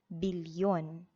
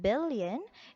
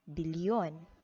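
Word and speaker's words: bilyon: the same with million it will be having a l and y spelling it will become billion instead of billion it will become billion so the same pattern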